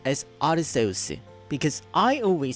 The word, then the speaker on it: Arceus: by the way did you know it is pronounced as Arceus because I always said Arceus then I Acclaim